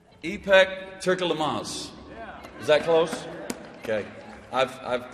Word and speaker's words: Turkyilmaz: So I asked her today, Turkyilmaz. It's pretty close.